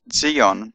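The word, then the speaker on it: צִיּוֹן: And Zayin has a Z sound, Z as in Zion. Although Zion is actually pronounced Zion in Hebrew.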